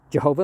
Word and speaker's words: Jehovah: Jehovah himself, it's always pronounced with a J and a Y and a W instead of a J and a V, because there was no J or V sound in that language.